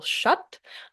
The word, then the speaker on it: Schutt: I believe his name is pronounced Bill Schutt.